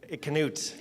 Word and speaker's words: Knute: Knute, because you have to pronounce the K.